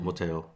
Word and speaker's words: 못해요: So it sounds like 못해요. Yeah. Oh, okay. Maybe Yeah. you should put that in up. Guys, It's like you know 못 해요. So when you pronounce naturally, it sounds like a 못 해요.